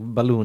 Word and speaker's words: Balún: writing it and yeah it phonetically sounds like balloon in English okay because you know